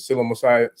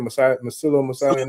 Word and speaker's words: psilocybin: Then you say, what is it, Psilocybin? How you say it? Psilocybin network?